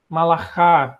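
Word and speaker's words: מלאך: Malaká, né? Eles pronunciam assim.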